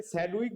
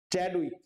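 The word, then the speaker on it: Chadwick: এটাকে স্যাডউইক বলছে, কিন্তু অ্যাকচুয়াল উচ্চারণটা হচ্ছে এটা চ্যাডউইক।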